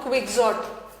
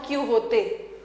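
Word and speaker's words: Quixote: इस क्विक्सॉट का प्रोनाउंसिएशन ना आपको दो जगह अलग मिलेगा। जैसे जब हम लोगों ने इन डॉन क्विक्सॉट के बारे में पढ़ा था अपने जूनियर क्लास में, तो हमारे टीचर ने हमें क्विक्सॉट सिखाया था, डॉन क्विक्सॉट। लेकिन मेरी डॉटर जब पढ़ रही है तो उसके टीचर ने सिखाया है प्रोनाउंसिएशन डॉन क्यू होते।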